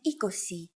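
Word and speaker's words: είκοσι: you really just have to memorize endica and ecosi all of the numbers are a combination of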